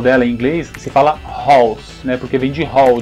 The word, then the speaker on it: Halls: A pronúncia original da bala é halls e a pronúncia da casa original é house. Halls, house. Halls, house. Original.